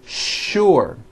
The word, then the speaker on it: sure: with the letter s but are pronounced with the sh sound words like sugar and sure and to make things